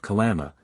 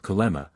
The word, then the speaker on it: kalama: as certain other yams, is called kalama, though it is sometimes pronounced as if it were spelt kalema, the k also being often hardly sounded.